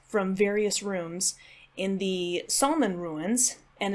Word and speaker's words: Salmon: various rooms in the Solomon ruins and it's spelled salmon but it's pronounced Sulman so that might confuse